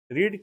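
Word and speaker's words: read: रीड का second form जो होगा दोस्तों रीड का सेकंड फॉर्म होगा। सेकंड फॉर्म होगा रीड। स्प्लिंग हमारा सेम रहेगा। लेकिन सेकंड और थर्ड हम लोग बोलेंगे रेड।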